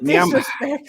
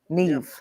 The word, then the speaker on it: Niamh: No, it's a name that's spelled NIAMH, but the MH isn't said how it. Yeah, you pronounce it as a V. Neve.